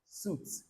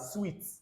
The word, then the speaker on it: suite: Then this word is not suit, hotel and suit. No, it's hotel and suite.